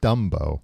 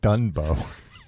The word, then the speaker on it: Dumbo: It's pronounced Dumbo. Usually saying Dunbo. No. Dumbo. Yeah. Now you've got it. Dumbbo. Was I saying done?